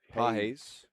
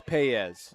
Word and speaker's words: Paez: Foul on Analee Pajes.